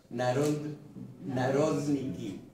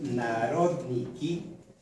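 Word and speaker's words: народники: Narodniki. Narodniki. A lo mejor es Narodniki, pero yo digo esdrújula.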